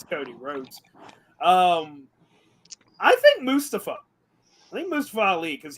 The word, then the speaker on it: Mustafa: Mustafa. No, Mustafa. That's what he wants to be pronounced. He literally says it. He says Mustafa.